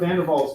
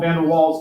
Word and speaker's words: Van der Waals: You guys may have heard of Van der Waals gases, or you might call them Van der Waals gases, because we're America and we pronounce our W's whoop, right?